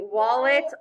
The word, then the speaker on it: wallet: we're going to say wallet off this picture will remind you that the letter a says ah before l and after w because the word wallet contains these three letters in that order we do not have